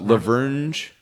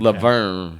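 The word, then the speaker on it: La Vergne: No, Laverne. Laverne, is that what you say? Laverne, that's how it's pronounced.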